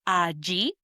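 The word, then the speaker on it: allí: And these two words are a gi spelled A L L I with an accent on the I or a A spelled A L L A with accent on the last A.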